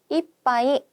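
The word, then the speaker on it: 一杯: 라고 얘기할 때는 코히요 이빠이 오네가이시마스 라고 얘기를 하는데요. 자, 요 한자 나중에도 살펴보겠지만 원래는 하이라고 읽습니다. 그런데 1 뒤에 붙었을 때는 있지 하이가 아닌 이빠이가 되거든요.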